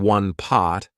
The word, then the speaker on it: pot: how I pronounced it instead of saying one pot I said one poot the beauty of a